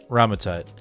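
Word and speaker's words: Rama-Tut: So every time, so first it's, is it Ram-Tut? I keep on saying it wrong. Is it Ram-Tut? Ramatut.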